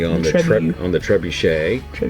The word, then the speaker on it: trebuchet: the trip on the trebuchet sometimes called the trebuchet but in the French pronunciation it would be trebuchet there's also the ballista